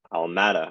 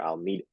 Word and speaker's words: Alameda: And this is where Almada or Almeida, I don't know how to Alameda. really pronounce it. I think it's Alameda.